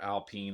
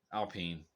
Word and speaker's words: Alpine: the the Alpine car Alpine that's the way they pronounce it I'm from America so it's Alpine it's whatever anyways I'm not I'm not I'm not that way alpen um there's a lot